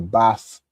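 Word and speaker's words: בַּת: You'll say ban or bath of whatever your tribe is, right?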